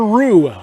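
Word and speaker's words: Ruch: Carter Rue will bat. He's going to pinch hit for Austin Smalley. So Carter Rue will stand in on the right side.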